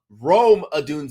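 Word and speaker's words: Rome Odunze: that I'm betting against that secondary and that's Rome adun yes Scott velt Rome adun is how you pronounce it I know you had a brain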